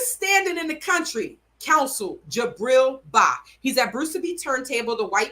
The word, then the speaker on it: Gibriel: G is G-I, Gibriel. It's Gibriel Bah.